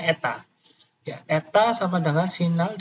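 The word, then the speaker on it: η: Jadi dimulai SN ratio itu dinotasikan seperti ini, menggunakan ini bacanya eta ya. Jadi kayak N strat ke bawah ini ya. Jadi N kecil begitu. Bacanya eta.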